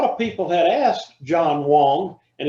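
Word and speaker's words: Wang: people had asked john wong and his name is spelled w-a-n-g wong he is mandarin chinese they asked him for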